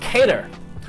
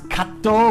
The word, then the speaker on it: Kato: up we got Hiroshi cater which I think I'm supposed to pronounce Kato but you know I